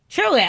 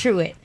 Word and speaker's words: Truitt: your last name wrong truly oh it's simple and easy you got an extra eye in there or something so I wasn't sure okay two T's two T's true it true and you've